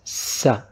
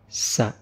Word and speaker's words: س: Our next letter is sa. Sa. It's pronounced like S in sad.